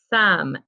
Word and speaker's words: some: do the word some some s om e now remember this word rhymes with come that and we had already practiced and it has the silent e at the end so this is a